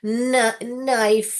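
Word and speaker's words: knife: निकालता है ओके बेटा कभी भी आप देखोगे जैसे कि नाइफ है नाइफ का स्पेलिंग देखिए के एन के पास आ रहा है तो के का साउंड ही आ रहा है जो कि क क है नाइफ नाइफ ऐसे ही आ रहा है तो के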